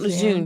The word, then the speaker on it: Lejeune: Camp Lejeune. Yes, Mhm. one One of of one the of the females. female Mm-hmm. Marines was from Camp Lejeune. Camp Lejeune. It's Camp Lejeune.